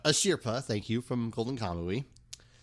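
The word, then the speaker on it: Asirpa: How do you pronounce this? Ashirpa. Ashirpa, thank you, from Golden Kamui.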